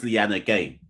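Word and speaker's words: Liyanage: It's sub singer but it is Lyanna Gay.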